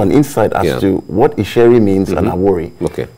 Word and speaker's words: Isheri: on divination for example today we have a sherry we have a worry people don't understand what it means ishari is isheri and then our worries are worried but because